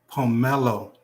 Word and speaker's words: pomelo: Pomelo. That's how you pronounce it.